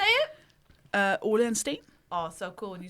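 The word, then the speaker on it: Ole & Steen: Ole and Steen. Oh, so cool when you say it. Ole and Steen.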